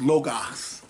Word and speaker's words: logos: It's pronounced logos.